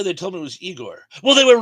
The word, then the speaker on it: Igor: And then Igor said, it's pronounced Igor. Really? They told me it was Igor.